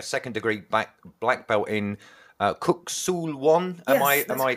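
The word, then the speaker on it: Kuk Sool Won: in saying a second degree black belt in Kuk Sul Won? Am I pronouncing that yes, right?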